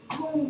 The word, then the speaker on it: Duong: Donc déjà, je me présente, je m'appelle Duong, donc Duong comme ça s'écrit, hein, D-U-O-N-G. Le D se prononce D parce que je suis du Vietnam du Nord.